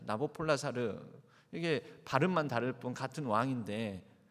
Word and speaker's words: 나보폴라사르: 느부갓네살 왕으로부터 시작을 합니다 세계의 사적으로는이 느부갓네살 왕의 이름이 아보폴라사르라고 발음을 합니다 나보폴라사르 이것을 우리 한글 성령에서 음역학 있는 느부갓네살 이렇게 발음을 하게 된 것이죠 뭐 페르시아 제국은 성경에서는